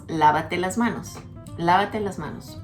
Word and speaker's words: lávate: The first word, lávate, has an accent on the first A. Don't worry about that, but just say lávate las manos.